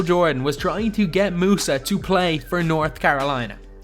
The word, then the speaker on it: Musa: I have definitely butchered that first name, so I'm just going to call him Musa because I know that's how his second name is pronounced.